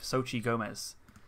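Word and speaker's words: Xochitl Gomez: and i have uh seen how to phonetically pronounce her name sochi gomez um so she's done a netflix series called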